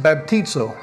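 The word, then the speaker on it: βαπτίζω: that's that's in the Greek language and it's pronounced baptizo right so it's transliterated baptized right but it's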